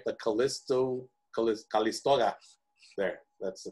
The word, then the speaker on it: Calisto: i clicked on that one right the callisto callisto there that's the correct pronunciation so notice i can either look on